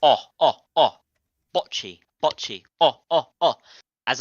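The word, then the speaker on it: Bocchi: I'm not saying bot the t is silent it's botchy right I don't what you mean it does sound like that but botchy like b o CC okay okay wait one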